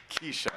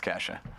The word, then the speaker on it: Kesha: dance to Kesha's tiktock Kesha it's Kesha Kesha thank you it's a k dollar sign we should say Ed's over 30 so like can't pronounce casha I thought for the